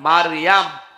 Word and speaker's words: মারিয়াম: না, তাহলে গোনা হবে, মারিয়াম বলা লাগবে। কি কথা বুঝতেছেন? কি বলা লাগবে? কারণ এই শব্দটা আল্লাহ কোরআনে দিয়েছেন, একটা সূরায় নাজিল করেছেন, সূরা মারিয়াম। আপনার 40টা নেকি হবে এই শব্দটা উচ্চারণ করলে। মিম র ইয়া মিম, মারিয়াম। 40টা নেকি পাবেন। আর যদি মরিয়ম বলেন 40টা গুনাহ হবে, কারণ অর্থ বিকৃত হয়ে গেছে।